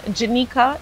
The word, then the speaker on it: Janika: offer a little correction janika is how you correctly pronounce my name so i know a lot of people get it uh incorrect but now uh